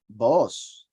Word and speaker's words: Boaz: This Be'os could be pronounced Boaz or Boaz, which is fleetness, right?